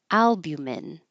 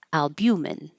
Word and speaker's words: albumin: This you have two options. Stress on the first syllable, albumin, or on the second syllable, albumin, albumin, or albumin, either way.